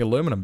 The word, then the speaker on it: aluminum: was suddenly like okay we cannot condemn Americans for spelling it aluminum or pronouncing aluminum because that is that is yep I will never argue with an American again on that it is not pronounced aluminium if I talk to an American it is Aluminum and I will and